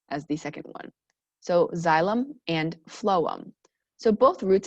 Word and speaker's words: xylem: The first one starts with an X, and it's actually pronounced like xylem. So it starts with a Z sound. So we have xylem, and then the second one starts with a P, but it's a PH sound.